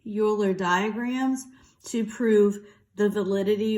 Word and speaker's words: Euler: Okay, these diagrams, it's pronounced Euler.